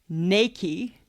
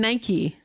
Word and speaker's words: Nike: the spelling e-r-t-k-e-r Earth okay Nike it's actually Nike n-a-i-k-e-y no yes that's how it's pronounced nobody ever says that because they're saying it wrong they're saying Nike these are saying it wrong this company has